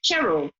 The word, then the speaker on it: Cheryl: said to me, and her name is pronounced Cheryl. So is it? Are you Cheryl or Cheryl? Cheryl. Like almost like with an S rather than the C.